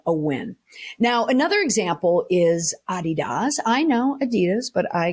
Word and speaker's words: Adidas: won't be whoa but we go by Adidas but that's the original pronunciation of it from the uh from the original Founders the German Founders but also Adidas so what did Adidas